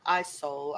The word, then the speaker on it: Isole: Is it Isole? Isole. I think it's. That's how I said it. Yeah. Yes, that's how I think you'd pronounce it.